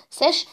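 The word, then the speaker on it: sech: تمام، هتضحكوا شوية من النطق في الأول لأنكم مش متعودين، بس شوية كده ولما نتعود هنقولها بمنتهى السهولة عادي. ساش هي مقلوب الكوشاين، يبقى 2 على اي اكس بلس اي ناقص اكس، دي ساش.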